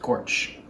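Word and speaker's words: GOARCH: we have to set gorge which is the go architecture so which architecture the go tool should use but pronounced gorge and this is going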